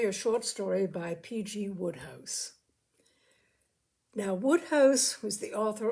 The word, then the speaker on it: Wodehouse: Tre a story a short story by PG Woodhouse now Woodhouse was the author of almost his name was pelum Granville Woodhouse w e w house pronounced Woodhouse he was the author of almost a hundred